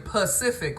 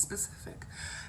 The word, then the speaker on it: specific: is that we weren't being Pacific with God like the whole ocean so it's specific and I'm pretty sure